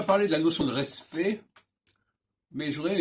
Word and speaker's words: respect: respect, qui s'écrit R-E-S-P-E-C-T, on entend que respect, on n'entend pas les dernières lettres, on n'entend pas le CT. Donc on a une règle du français, puisque l'autre jour je parlais de la savoir prononcer le français, on va dire respectable, ou respecté, mais on dira le respect. Et là, les consonnes C et T, on les entendra pas.